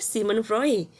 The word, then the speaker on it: Sigmund Freud: sangat berkaitan yang ketiga Simon frey khusnya Sigmund Freud ya bacanya Simon frey Simon frey ia menyinggung